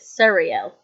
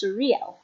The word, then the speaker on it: Sariel: noticed as i've read i use the spelling s-a-r-i-e-l and pronounce it cereal but other texts pronounce it as surreal and when i was